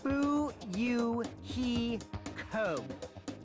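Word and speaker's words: Fuyuhiko: name is my first name is pronounced boo you he Co what what are you what are you doing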